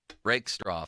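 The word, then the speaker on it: Rakestraw: Uh their secondary, Brian Branch, Kirby Joseph, Thomas Harper, Arnold, Rickstro, that's how you say his name.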